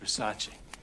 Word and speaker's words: Versace: it's a vers it's Versace what Versace it's pronounced Versace oh you got great great taste you look